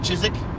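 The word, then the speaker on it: Chiswick: for a fact that if you're from from the UK there are a ton of letters and it works you don't even bother pronouncing especially if it's an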